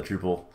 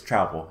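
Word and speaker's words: Troupple: oh i love the drupal the tropical uh i always want to call them drupal but it's travel it's pronounced like apple uh burger now that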